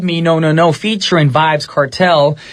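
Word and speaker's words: Vybz Kartel: no no no featuring vibes cartel my apologies earlier i did say his name was vibs cartel that's what i pronounced it wrong so i i guess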